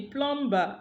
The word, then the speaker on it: plumber: can now see that but is deleted when it occurs with a nasal and the nasal is usually M all right so when